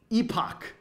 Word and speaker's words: epoch: I'm going to add a term somewhere, epoch, which is, in my view, the proper pronunciation of this word, not how I like to, never mind. Anyway, so epoch, or epic, whatever.